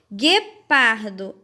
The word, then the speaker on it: guepardo: Guepardo, a mesma coisa. Eu não consigo ouvir o som do U, só do E.